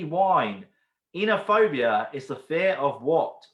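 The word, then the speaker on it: Oenophobia: Enophobia, it's got a silent O.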